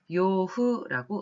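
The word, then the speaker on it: 養父: 그에 반해서 의부라고 한자를 쓰고 읽었을 때는 기후라고 읽습니다만 이거는 의붓아버지를 읽었습니다. 다음으로 양부, 양아버지를 일본어로는 양부라는 한자를 쓰고 요후라고 음독을 합니다.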